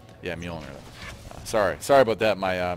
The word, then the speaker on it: Mjolnir: And it's yeah, Mjolnir. Sorry about that, my mispronunciation.